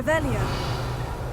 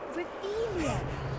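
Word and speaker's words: Revelio: Where are you, Rellia? Revelius. Saying it wrong. Reelia, much better.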